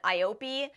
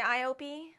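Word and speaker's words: IOPE: told me to say I think they spelled out I Dash o p Das capital e e would you say I op they told me a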